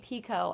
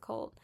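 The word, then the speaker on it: Picoult: Jodie Pico, actually, that's how you say her name, not Jodie Pult.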